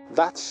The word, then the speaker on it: that: La TH de think se pronuncia como una Z española.